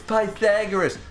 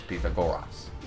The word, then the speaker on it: Pythagoras: is actually pronounced Pythagoras because the way that the letters were pronounced back in those days are different than the way we pronounce them today his name is Peter goras but anyways if you